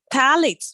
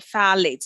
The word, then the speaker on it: phthalates: Phthalates or phthalates, as it's pronounced, that is found in plastic, again, is associated with early menarche.